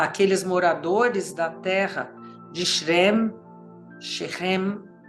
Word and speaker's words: Shechem: moradores da terra de Shechem seria a palavra, seria a pronúncia correta dessa cidade.